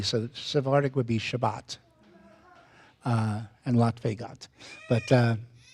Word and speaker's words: Shabbat: I usually go with the people whose language it is. So, I would go with Shabbat or Shabas, not Sabbath.